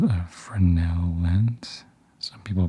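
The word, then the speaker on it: Fresnel: this is called a frenel lens some people pronounce it fral cuz there's a silent s I've also heard it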